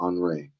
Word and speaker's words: Henry: how he says it do they pronounce it the like French style what yeah his last name where is it Henry uh I think it's Ariel enre I arel okay that's what